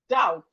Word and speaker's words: doubt: We have it in words like doubt. Doubt. The B here is silent, so it's not doubt.